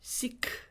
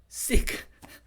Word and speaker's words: seek: 자, 여기 발음에도 seek. 네, 발음하기 이건 어쩔 때는 S-I-C-K, sick, S-E-E-K, sick, 그죠? 그 다음에 이런 이렇게 거의 한국 분들은 발음이 똑같아요. sick, sick. 근데 실제로 S-I-C-K는 sick, S-E-E-K는 seek. 완전 다르죠.